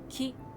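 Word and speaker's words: 木: There are 2 konyomi pronunciations, ki and ko, and 2 onyomi pronunciations, boku and moku.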